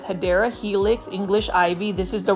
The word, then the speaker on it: Hedera helix: As you can see here, this is our favorite Hydra Helix. Or the correct way to say it is Hedera Helix, English ivy.